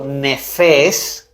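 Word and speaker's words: נפש: Vámonos a ver la palabrita ser en la concordancia hebrea, que es la 5315, que se pronuncia en hebreo nefes. Nefes y significa alma.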